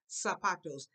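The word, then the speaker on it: zapatos: of the pizza Los sapatos the z sound is like an S okay it's a zebra we're gonna pronounce it like yes also ah some people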